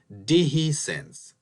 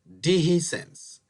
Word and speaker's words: dehiscence: these include infection and separation which is called deihi sense let's pronounce the word together deihi sense it's called own separation there is the doctor